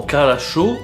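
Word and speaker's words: хорошо: Par exemple, dans Karasho, on a tous les O qui se prononcent A, et ça dépend un peu de l'accent tonique, c'est un peu arbitraire.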